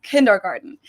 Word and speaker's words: Kindergarten: Let's start with one of the most known ones, and that is kindergarten. In German, we pronounce it Kindergarten, and it literally means children's garden.